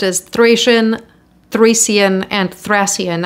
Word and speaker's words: Thracian: We're talking about the Thracians. I've seen it pronounced as Thracian, Thracian, and Thracian. I'm going to go with the most common pronunciation I see in English, Thracian.